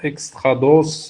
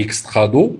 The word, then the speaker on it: extrados: Donc on ne prononce pas le S à la fin, on ne dit pas extrados et intrados. Voilà, donc ça se lit intrado et extrado, donc des plis.